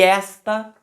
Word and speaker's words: esta: verdade se esta aí repare que até a sílaba tônica mudou está tem a sílaba tônica lá no final na última sílaba e esta tem a sílaba tônica na primeira sílaba tá então só para